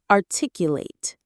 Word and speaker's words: articulate: When it's a verb, an action word, the stress is on the 2nd syllable and the end sounds like ate. Articulate.